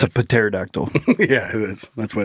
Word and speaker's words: pterodactyl: Because the P is silent. Yeah. Oh, I tried to. Yeah. I get it. Because the way it's spelled. Yep. It's a pterodactyl.